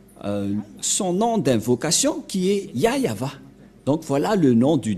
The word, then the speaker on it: Yahvah: voit rien et donc c'est bien la pronciation de son nom yayava voilà le ya et